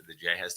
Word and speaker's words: ja: Yeah, because the J has the H sound. So I guess it's really ha ha ha ha.